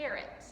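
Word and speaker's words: caret: they are up here this little symbol is called a carrot say that with me carrots just like the english word for sanoria carrot but it's spelled differently so a carrot shows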